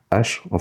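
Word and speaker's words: ה: Mais normalement, il faudrait prononcer He. C'est pas une lettre muette. Ok? Mais souvent, elle perd un peu son son du fait qu'elle soit très légère.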